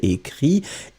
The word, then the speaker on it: écrit: Regardez, ici c'est le verbe écrire au présent, so in the present tense, remember, j'écris IS, tu écris IS, il, elle écrit, IT, you pronounce them exactly the same way, but still, you should write them differently.